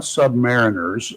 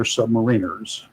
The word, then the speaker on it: submariner: And there are not submariners on board. They're submariners. That's the way it's pronounced. Not submariner.